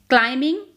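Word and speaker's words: climbing: क्लाइंबिंग, बी is silent here.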